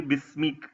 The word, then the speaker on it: بِسْمِ: नजर आता है और इसको हम प्रोनाउंस भी बिस्मी करते हैं, यानी अलिफ जो है वो गिर जाता है और ये अलिफ जो है ये कसरत इस्तेमाल के बाद साकित हो गया है और इसके बदले